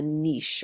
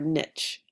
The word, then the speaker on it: niche: of resources that's called The Niche or Niche depending on how you like to pronounce things so um if